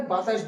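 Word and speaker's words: ب: তো বা উচ্চারণ করার সময় এই ঠোঁট দুটো মিলিত হয়ে উচ্চারণ হবে বা, বা।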